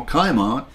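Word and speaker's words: Cimon: greece the athenian general kaiman and in greek c is pronounced as k scored a major victory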